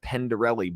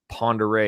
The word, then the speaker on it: Pend Oreille: It says Pendarelli, but it's actually Pend Oreille.